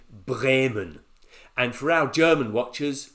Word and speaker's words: Bremen: It's spelt sort of Bremen, but I'm trying to get the right Germanic pronunciation, so I'm going to say Bremen.